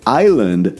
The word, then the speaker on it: island: That is why island has a silent s even though it was never pronounced.